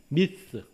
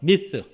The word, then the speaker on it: myth: 우리말에는 허탄한 이야기로 번역했는데 영어 성경에 보면 myth, myth, 번데기 발음, myth. 쉽지 않아요.